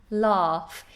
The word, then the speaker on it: laugh: Lots of people struggle with this particular word, to laugh. We have this very long vowel in British English, laugh.